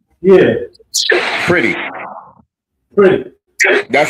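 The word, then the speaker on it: Pretti: I think you're talking about the Preetti. Yeah. Pretty. Pretty. That's how it's pronounced.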